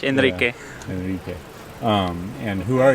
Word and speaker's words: Enrique: Harder to pronounce for Americans, but Enrique. Yeah, you can try like the Spanish. Enrique.